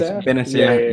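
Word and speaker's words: Bennacer: Is it Benacer? Yes, Benacer.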